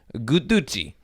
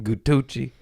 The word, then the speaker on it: guduchi: easy passion flower Indian I swear guduchi g-u-d-u-c-h-i-doo G I'll tell you what I want some gutuchi I said it wrong come here foul chamomile